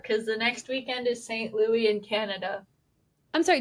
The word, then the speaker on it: St. Louis: I think we are, because the next weekend is St. Louis in Canada. I'm sorry, did you just call it St. Louis? It's St. Louis.